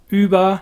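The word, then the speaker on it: über: of the uber mensch the german pronunciation of uber is of course because german has umlauts and english doesn't there is a difference between ooh and in this case it would be uber mentioning there the ubermensch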